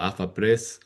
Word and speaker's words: AFA Press: I worked for a private company for a while called AFA Press. And I pronounce it like that because it was based in Spain, but it's AFA Press.